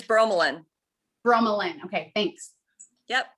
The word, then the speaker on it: bromelain: Bromelain, did you say? Is that what we called it? It's bromelain. Bromelain, okay, thanks.